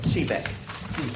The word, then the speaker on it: Sibak: Sibak? Sibak? I don't... Seaback. That wasn't far wrong.